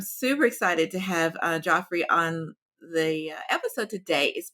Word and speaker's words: Geoffrey: My my mom was a fan of uh Chaucer and he actually pronounced it Joffrey. It became Jeffrey later. So Oh, gotcha. I've been Joffrey my whole life and